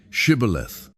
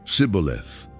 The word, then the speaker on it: Shibboleth: If he said, "No," then they would say to him, "Then say Shibboleth." And he would say, "Sibboleth," for he could not pronounce it right.